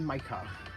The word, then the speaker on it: Mykah: Hey, right now you're listening to Pokemon Red and Blue, Celadon City, a deep house remix by DJ Micah. But that's spelled DJ MYKAH.